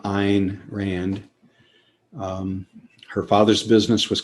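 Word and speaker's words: Ayn Rand: mispronounced she herself said if you want to pronounce my name correctly understand it should rhyme with line so it should be pronounced ein rand through a novel atlas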